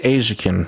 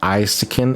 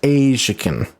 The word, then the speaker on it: Aisican: It is pronounced Asakin. It is not isin. It is not. It is pronounced Asakin.